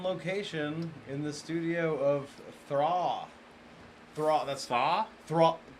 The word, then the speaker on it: Thra: Could you pronounce the band name correctly, Vincent? Thra.